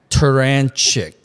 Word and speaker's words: Turachnik: Joining me, as I mentioned, from up there in the central region of Illinois, Coach Jack Terranchic. Did I pronounce that right, by the way? Tarantic.